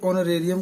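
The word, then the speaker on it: honorarium: देते हैं, तो उसको ऑनरेरियम कहते हैं। इसमें एच साइलेंट होता है, ठीक है।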